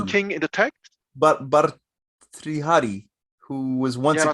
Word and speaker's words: Bhartrihari: But her, Bharatrisha. this guy? Yeah. Yeah. Are you speaking of the Hari, king in the text? but Bhartrihari, who was once Yeah, a king, Ratihari.